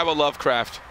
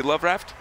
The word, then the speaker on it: Loveraft: watching this nean Sky Lovecraft oh oh love raft love raft sorry love raft is supposed to be love raft have we been pronouncing wrong the whole time I think so I